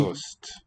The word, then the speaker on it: ost: ost. ost. Ost is cheese. Look at or listen to the quality of the O. Manden kan godt lide ost. Ost. Slightly rounded, slightly fronted, I think.